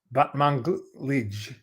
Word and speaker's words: Batmanglij: No, Batmanglij.